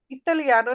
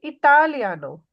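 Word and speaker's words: italiano: लका सोनो इतानो सोनो इसकी प्रोनाउंसिएशन सही करें सोनो इलियानो इलियानो नहीं इतालियानो इतालियानो सोनो प्रोफेसोरे सोनो प्रोफेसोरे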